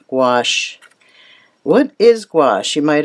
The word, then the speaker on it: gouache: G-O-U-C-H-E is pronounced gouache.